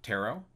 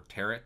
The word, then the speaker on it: tarot: website Laurie Cabot calm you have Tarot or tear it depending on how you want to pronounce it and then you have